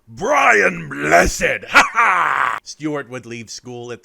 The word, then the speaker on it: Brian Blessed: he would first meet a young actor named brian blessed hold on i i mispronounced that name apparently it's pronounced brian blessed stewart would leave school at the age of